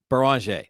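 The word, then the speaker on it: Beringer: Beranger.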